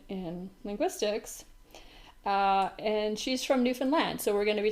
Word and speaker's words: Newfoundland: It's called Newfoundland and Labrador, and they both get final stress. And I think that helps a little to remember how to say it.